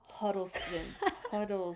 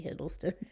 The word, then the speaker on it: Hiddleston: All right, now we have Tom Huddleston. It's supposed to be Hiddleston. Tom Hiddleston. I spelled his name wrong, my bad.